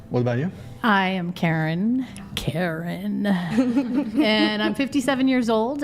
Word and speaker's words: Karin: But is that No, it's Karen. It's like, okay, it's like car in the garage, but there's A car in the garage.